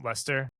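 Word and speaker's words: Leicester: Manchester City Chelsea I always forget how to pronounce this um Lester yeah uh dude have you guys heard about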